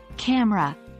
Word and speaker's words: camera: is often pronounced as camera with the middle e disappearing this is a simple